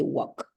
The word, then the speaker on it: walk: okay don't forget that in the case of the word talk walk right you don't mention L it doesn't exist for you for the pronunciation so you say walk very good okay I